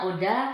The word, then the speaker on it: ODHA: apa nih odha Apa iya ee pelafalannya Oda tapi tulisannya kan odha ya sebenarnya itu singkatan Bang